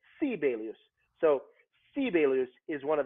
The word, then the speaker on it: Sibelius: preface this by saying they pronounce his name sibelius there because americans think i'm crazy i don't know how to pronounce that name in finnish every first syllable of a word is is emphasized so if i say which means good morning how are you so you say sibelius so sibelus is one